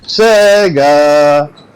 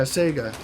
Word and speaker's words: Sega: Sega! Sega? Yeah, Sega. Yeah, it's like the E is like kind of like a long A, and the way you said it sounded like smegma without the M.